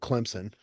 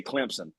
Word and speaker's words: Clemson: Hey, you gota say you got to say how the people around here say they say Clemson. Clemson. Clemson. Clemson. Because it's spelled with a P.